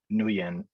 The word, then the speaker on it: Nguyen: He knows that Nguyen, sorry, I feel like I'm pronouncing that name wrong. Isn't it just Win? It's just Win, yeah. I think it's Win, right?